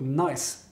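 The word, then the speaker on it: gneiss: have a soil that's called nice that's spelled g-n-e-i-s this is a very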